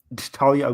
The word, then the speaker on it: Thalia: a little bit um Thalia a no actually per Walker says Thalia because it's th t h a l i a growing up I always say Talia I I thought the